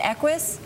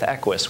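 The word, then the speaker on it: Equus: And I'm thinking about and forgive me I'm going to mispronounce it but the 60,000 is it Equis? Yeah Equis you've got it right Carol.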